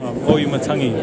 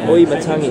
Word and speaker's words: Auimatagi: Tell him how it's pronounced. Auimatagi. Auimatagi.